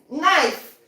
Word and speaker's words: knife: Knife. The K is silent in knife.